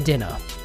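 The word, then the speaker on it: Dedenne: the dean dedener dead i personally pronounce it the dinner why because it's called the antenna pokemon it literally has antennas for whistles it is based off of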